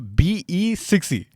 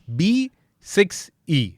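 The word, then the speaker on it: BE 6e: So it's supposed to be pronounced as B6E. Like be sexy? Yeah, like this indigo thing. A little cheesy, right? Yeah. Like how they have that zip zap zoom modes also. So it's not supposed to be pronounced as BE6E. It is B6E.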